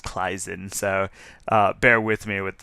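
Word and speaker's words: Claisen: Again, I think the proper German way to pronounce that is Kleisen.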